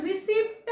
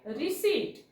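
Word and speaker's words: receipt: आपण चुकीच प्रोनन्सशन करतो आपण रिसप्ट म्हणतो प चा उच्चार करतो रिसप्ट ट पण नसतो म्हणायचा ्याला म्हणायला पाहिजे रिसीट रिसीट पी नाही वाचायचं ओके सो एस बघा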